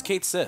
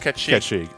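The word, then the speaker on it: Cait Sith: is I thought was Kate sick oh uh no it's actually Kate she hates it but it's pronounced catchy it's a Gaelic I believe yes yeah you know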